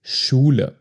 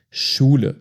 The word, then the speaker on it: Schule: And you might have seen this in words like Schule. Schule, school. And it's basically pronounced like SH.